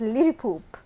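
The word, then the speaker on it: liripoop: yeah there it is it is actually l i r i p o p it it is pronounced as L poop okay can you guess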